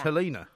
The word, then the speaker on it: Helena: he did yes absolutely it pronounced helina helina yeah I mean spelled